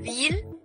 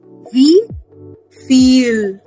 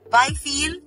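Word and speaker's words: wieviel: So don't read it as wheel. It will be wie viel. Why feel? Because wie in German is pronounced as F. Remember everyone? So we'll pronounce it as wie viel.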